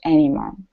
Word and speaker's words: anymore: word one more time the stress on it is any more okay the stress is at the very end instead of anymore anymore